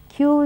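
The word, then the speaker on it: queue: have a word like q u e u e where it seems to have so many letters but it's only pronounced Q then you have q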